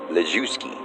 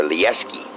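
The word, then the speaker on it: Lijewski: Cindy's last name was Lejewski, or Lieski. I say Lejewski because you spell it that way.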